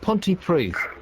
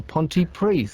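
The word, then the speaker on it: Pontypridd: nutshell in a nutshell Ponty PRI with two D's how how does two D's manifest itself as th um how's it going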